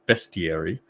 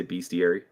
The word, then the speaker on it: bestiary: as it annoys me it is pronounced Beary I don't know why everyone well Americans keep pronouncing it bestiary that just sounds weird I don't I say beastiary yeah I say beastiary